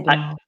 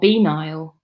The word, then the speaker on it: banal: So I mispronounced banal for the longest time. Oh, banal. I say banal. Yeah, no, that's correct. I pronounced it another way. What, benile? No, banal.